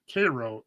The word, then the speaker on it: Cairo: It's spelled like Cairo, like Egypt, but it's definitely not Cairo, Egypt. I think it's Cairo, Egypt, or Cairo, Georgia.